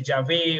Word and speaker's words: Yahvé: Entonces ahí puede ser Yahvé o Yahweh, pero es lo mismo, ¿no?